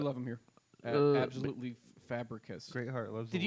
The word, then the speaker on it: Fabricius: but- Absolutely Fabricus.